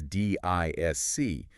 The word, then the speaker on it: DISC: That's D I S C, but we just pronounce it DISC.